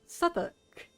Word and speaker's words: Southwark: So I know exactly how this one is pronounced, because I know the modern vernacular. That's Southwark.